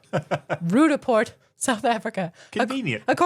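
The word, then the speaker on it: Roodepoort: I actually checked how to say Rudaport expecting it to be complicated. It's just like it's spelled. Rudaport, South Africa.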